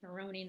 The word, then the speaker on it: Marrone: mispronounced your last name it's Maron not Maron so um being being